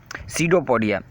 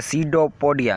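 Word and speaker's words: pseudopodia: Next है हमारे पास वो है सीडोपोडिया। इसकी पी नहीं पढ़ेंगे, पी साइलेंट है यहाँ पे, सही है। सीडोपोडिया।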